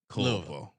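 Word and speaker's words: Culpo: I think it's like pronounced like Louisville. Colpo.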